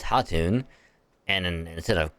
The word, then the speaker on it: Khatun: Alright, because in this, the K is silent. So it's not Khatun, it's Hatun.